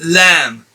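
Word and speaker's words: ل: This one here is lam, and it's not lam, it's not lam, it's lam. The sound is between A and E.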